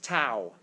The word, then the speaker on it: tau: Torque is tau. Tau. This is T-A-W. That's how you say it.